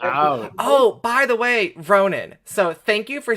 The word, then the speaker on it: Ronen: It's properly pronounced Ronen.